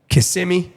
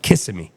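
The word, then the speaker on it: Kissimmee: New York la Texas KMI that's how you say it right I just learned how KMI KMI cool I was like kissim KMI I I say you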